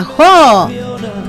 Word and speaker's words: Jó: Jo con acento en la O, un músico español que